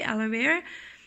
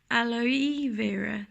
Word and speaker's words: aloe vera: pronounce it very quickly, aloe vera, you are actually supposed to pronounce it aloe vera. So you pronounce the E more distinctly.